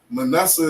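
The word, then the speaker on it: מנשה: Because Manasseh is my brother.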